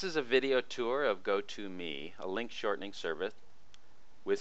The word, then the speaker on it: Go2.me: First, I'll visit go to the Gotome site which is spelled go2.me.